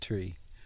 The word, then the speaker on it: tre: together met met Tre but then in English we say the r differently um we gutter Alize the r um which makes tree you know a back of the throat kind of tree thing than the t tree tree and I guess